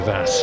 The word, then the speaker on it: Vass: Via Vass rhymes with tear gas.